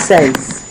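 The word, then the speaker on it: seize: Next we have 16 says. So we get a lot of things in says. So in this case it says 16. So you see English 16 two syllables French says one syllable says. Mhm.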